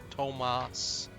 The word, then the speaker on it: Tomas: it's the librarian Tomas just say his name is Tomos Tomas yes there's no h in it so yeah it's